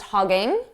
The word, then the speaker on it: hogging: So I did pronounce it more like hoggin, hoggin, hogging, ing, hoggin. So stressed, hogging, unstressed, hoggin.